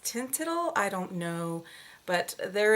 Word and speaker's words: Teint Idole: So I am featuring today is the Lancome foundation, and I think this is pronounced Tintidle.